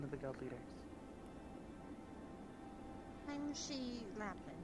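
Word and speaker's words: Shi Lapin: S-H-I. It gets confusing. Some people kind of spell it odd. So she is she.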